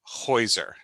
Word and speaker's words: Heuser: Heuser, is that right?